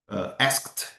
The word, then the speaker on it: asked: eu vou dar exemplos com outras letras, nós pronunciamos com o final T. Worked, asked, for example.